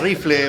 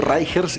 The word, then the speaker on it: Reicher: He escuchado de todas las maneras, hasta Sí. Rifle, un profesor alguna vez me dijo así, Rifle. Sí. Se escribe Reicher, yo le digo Reicher, que fuese...